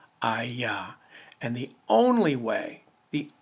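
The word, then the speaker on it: היה: it is spelled hey yod hay it is pronounced i yah and the only way the only way for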